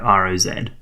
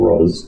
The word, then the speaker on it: Roz: Not R-O-S-E, but R-O-Z. Oh yeah, Telephone Rose. But pronounced Rose. Maybe Great. people keep getting it wrong and he has to correct them. It's not Roz, it's Rose.